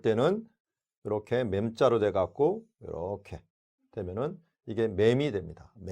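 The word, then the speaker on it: מם: 우리 그러면 맴부터 다시 한번 시작을 하겠는데요. 이 맴은 우리나라 발음하고 너무 비슷해요. 맴, 우리나라 미음하고 너무 비슷하죠? 발음도 똑같습니다.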